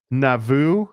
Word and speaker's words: Nauvoo: Um and then in Nauvoo, I always that's the right way to say it, right? Uhhuh. Navu.